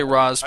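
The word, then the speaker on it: Ra's: RZ all ghoul storyline I'm gonna say RZ because that's how you pronounce it yeah that's how saying people pronounce it I think ra here's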